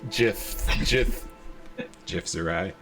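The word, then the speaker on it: Githzerai: He is a Gith Zerai. I confused my gifts. All right. It's pronounced Jif. Jif Zerai.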